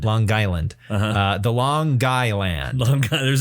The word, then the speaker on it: Long Island: And by the way, you're supposed to pronounce the G. Long Island. Long Island. Long Island.